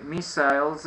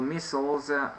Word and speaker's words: missiles: I don't think that they started a new war, but North Korea, they launched the missiles or missiles, two pronunciations possible, over, I think, over Japan.